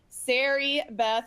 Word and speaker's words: Sari Beth: lesson um and I am with my friend Siri Beth did I pronounce it right for the first time ever